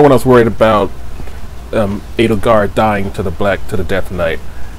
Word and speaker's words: Edelgard: Edelgard.